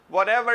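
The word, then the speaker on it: whatever: हूं जो भी हो व्हाट एवर इट इज व्हाट एवर जो भी व्हाट एवर व्हाट एवर ये आर साइलेंट होना चाहिए ए की तरह आवाज आनी चाहिए व्हाट एवर जो भी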